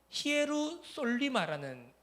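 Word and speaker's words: Ἱεροσόλυμα: 자, 이 구절에서는요, 특별하게 이 예루살렘이라고 하는 이 히브리 단어의 헬라식 표기는요, 히에루솔리마라는 발음입니다.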